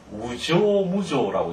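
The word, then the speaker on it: 有象無象: 77번 77번 우조무조 읽을 때 이것을 우조무조라고 읽는데 유자를 유로 읽지 않고 우로 읽는 데 아주 조심해야 되고요.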